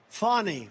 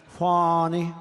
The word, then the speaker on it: Fani: Now, even though it's I believe it's spelled F A N I, to my way of thinking, that's Fanny.